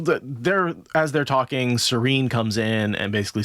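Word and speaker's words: Seaine: Cuz the the it's pronounced like the word that means calm.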